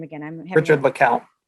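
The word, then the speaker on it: LeCounte: I'm having Richard LeCount. LeCount.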